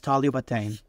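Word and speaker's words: طالبتين: If you want to say two female students, we take the word for student, talib, add tan marbuta to make it feminine, which gives us taliba, and then we add our dual ending of ain, which finally is pronounced as talibatain, two female students.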